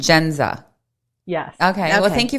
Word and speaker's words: Jendza: do you pronounce it jenza jenza okay great so welcome i'm sorry so the d is silent genza yes okay well thank